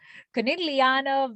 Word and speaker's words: Conegliano: see i would have i put that hard g in there i i say coniglio coniglia and so that's wrong right i'm sure i'm sure it's not supposed to have a hard g i'm sure it's not supposed to have a rj so conilliano valdo biadine